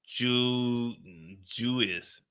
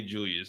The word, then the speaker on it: Julius: That's how my nephew say my name, Uncle Jewis. Juis. Like nigga, Uncle Jewis. Like you like 5 years old now. You need to learn how to say Julius, man.